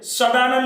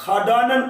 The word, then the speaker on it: षडानन: सा को ऐसे बोलिए कि मूर्धा हले, तब इसके उच्चारण में खासा आता है, जैसे षटकोण। अथवा यहां जैसे षडानन लिखा होता है तो उसे हम खाडानन पढ़ देते हैं सही उच्चारण के लिए, तो ये रहता है मूर्धन्य।